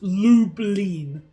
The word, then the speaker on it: Lublin: It's pronounced lublin. Gotcha. So, Llin.